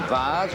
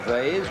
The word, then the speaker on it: Vase: The Herald Vase or Vase, whichever way you care to pronounce it.